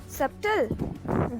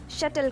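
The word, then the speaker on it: subtle: Now हमारा network है सब जेल जी नहीं इसे शटल कहा जाता है यहां पर साइलेंट है ओके क्या कहते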